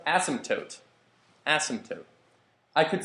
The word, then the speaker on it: asymptote: Asymptote? It's pronounced asymptote.